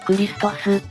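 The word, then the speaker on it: Χριστός: 何だったね古代ギリシア語風に発音するとクリストスになるらしいなアンデレは指紋を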